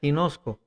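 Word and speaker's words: γινώσκω: Y la palabra informarme viene del griego que se pronuncia ginosco.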